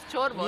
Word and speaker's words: ciorbă: With the soup called ciorbă.